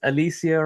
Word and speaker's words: Alicia: It's not Alicia, it's Alecia, right?